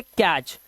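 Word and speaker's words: catch: इसी तरह से कैच यहां पे टी नहीं पढ़ रहे।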